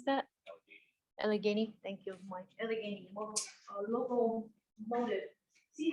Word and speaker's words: Allegheny: you got there it's called how do i pronounce that allegheny thank you mike see how i don't think